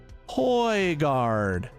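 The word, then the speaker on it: Højgaard: look at that oh now go to bio Hoy guard what the seriously that's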